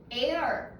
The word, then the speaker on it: heir: heir, h 묵음이죠.